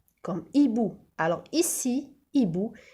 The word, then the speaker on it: hibou: Alors ici, hibou, je n'ai pas dit chibou, j'ai dit hibou. Le H, alors le H est une lettre muette. Ça veut dire qu'on ne la lit pas, qu'on ne la prononce pas.